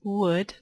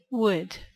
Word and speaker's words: would: La pronunciación es would como U-O-D, would.